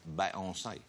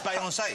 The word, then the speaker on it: Beyoncé: Bey, but you say Bey, like when you're like just bae.